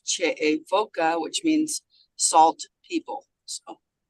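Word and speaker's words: Che'e Foka: And in our tribal language, it's Che'efoka, which means salt people. So. Thank you. From Stony Ford. Spell that name, please.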